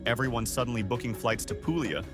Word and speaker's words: Puglia: Puglia, pronounced Puglia, not Puglia, we beg you, has long been Italy's quieter, sun-soaked cousin.